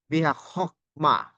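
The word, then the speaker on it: בחכמה: We don't pronounce it like chok, but biha hokma, and the accent is here.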